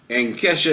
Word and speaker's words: Kesha: Anyway, I pronounce it Keisha, but she pronounces it Kesha, whatever.